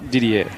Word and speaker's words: Didier: In fact, apologies to him, I don't know how to pronounce his first name. Didier Drogba. Didier, okay.